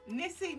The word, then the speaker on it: Nissi: Am I pronouncing your name right? Yes. Nissi Nissi.